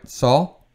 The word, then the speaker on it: Saúl: Saul? It's fine. Saul, like Saul Goodman of Breaking Bad.